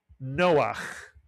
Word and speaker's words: Noah: Two vowels, two syllables, Noah.